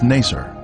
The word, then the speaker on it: Naser: is the uzengili village its former name in the 19th century was Naser this pronunciation is similar to nicer a village that the